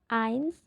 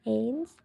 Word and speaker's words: eins: Kalau satu ains bukan eins.